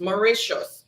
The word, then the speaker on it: Mauritius: and country number nine is mauritius mauritius it's pronounced mauritius m-a-u-r-i-t-i-u-s mauritius what's the capital of mauritius all